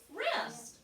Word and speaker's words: wrist: i s t faustine we don't hear this letter right circle u w what is that word why see what does r say what is okay put it together snap it together wrist right this movie has